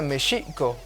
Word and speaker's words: México: la palabra México, que en lengua mexicana se pronuncia Mexico, Mexico, y tiene 3 raíces etimológicas: metl, terminación